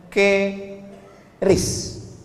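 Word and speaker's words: QRIS: mall ditulis ada namanya ke ris qis Kis. Cara bacanya gimana sebetulnya? Keris.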